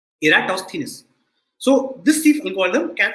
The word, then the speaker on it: Eratosthenes: sieve of eratosthenes and this is how you pronounce the name you say era toss thinness okay eratosthenes so this thief algorithm